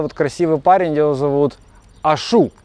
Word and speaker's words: Ашу: Вот этот вот красивый парень, его зовут Ашу. Ударение правильно сказал?